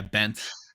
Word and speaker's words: Bence: How do you pronounce Bency? Bence? Yeah, Bence.